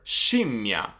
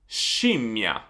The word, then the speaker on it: scimmia: So when you have SC plus I or E, you're gonna pronounce it as SH. So, sh. So SCI, she. SCE, she. So basically like the SH sound in English in the words she or ship.